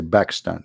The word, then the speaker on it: Pakistan: when we say we don't say Pakistan we say back stand back Pakistan because an Arabic we don't have P you know we have a B not P so always a man